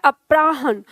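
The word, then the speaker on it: अपराह्न: ये ह के नीचे न है, ठीक है। अपराहन, ह का उच्चारण कम और न का उच्चारण पूरा आएगा।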